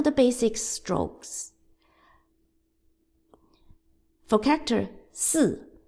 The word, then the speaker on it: 四: 四 Fourth tone.